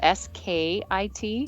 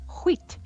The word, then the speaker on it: skit: It's spelled s k i t. skit and and no, it's wheat, which is like so fun to say.